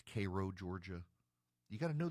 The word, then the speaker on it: Cairo: They have Vienna, but it's pronounced Vienna. They've got Houston County, but it's Hston County. They have Cairo, Georgia, but it's Cairo, Georgia.